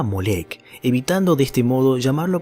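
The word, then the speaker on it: Moloch: malec molec y milcom en hebreo se lo pronunciaba molek evitando de este modo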